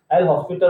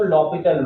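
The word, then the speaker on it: L'Hôpital: तक तो हम भी एल हॉस्पिटल रूल कहे जा रहे थे। फिर जब कभी कुछ कॉन्फ्रेंसेस वगैरह अटेंड की और कॉन्फ्रेंसेस में जब इसका एक्चुअल प्रोनाउंसिएशन लिया गया तो लॉपिटल रूल, तब से हम भी धीरे धीरे लॉपिटल रूल बोलने लगे।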